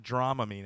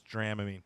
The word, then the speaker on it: Dramamine: theater kids take why how's it pronounced Dramamine that's what I said it's not Dramamine it's dram mean that's what I said